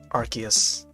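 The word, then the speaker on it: Arceus: to catch up on in time for uh archus and yes it it is pronounced archus in the movie It's called archus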